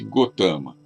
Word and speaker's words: Gautama: Escreve-se Gautama, mas pronuncia-se Gotama.